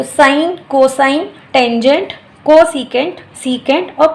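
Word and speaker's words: sine: Starting में 50% बच्चा सिन बोलता है, इसको साइन नहीं बोलता है, क्योंकि इंग्लिश में हम ये वर्ड यूज़ करते हैं सिन, तो वो उनको वो उससे यूज टू हैं तो उसको सिन ही प्रोनाउंस करते हैं। लेकिन यहाँ पे हम इसको साइन बोलेंगे, क्योंकि सिन का मतलब तो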